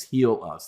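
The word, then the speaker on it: Helus: H it it's heal us. That's it looks like heal us, but it's heal us.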